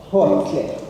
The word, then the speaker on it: Gauteng: And that's spelled Gotlhe. Gauteng.